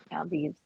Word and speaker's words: Maldives: Maldives.